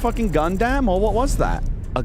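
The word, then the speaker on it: Gundam: Was that a gunam or what was that?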